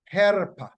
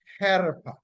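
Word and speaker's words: חרפה: p a h and it is pronounced Hera Hera Hera right meaning disgrace or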